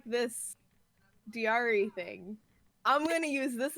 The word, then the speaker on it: Dyari: like, I like this Dyari thing. I'm gonna use this as my last name. But And then everyone pronounces it diary.